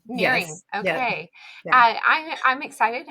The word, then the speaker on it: Nehring: So, I am excited to have Lisa, how do you say your last name? It's Naring. Nearing.